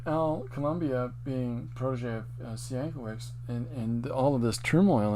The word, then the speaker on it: Sienkiewicz: This is Bill, Bill, Sienkiewicz, Sienkiewicz. Now, this Sienkiewicz is how his father anglicized it and how it's pronounced.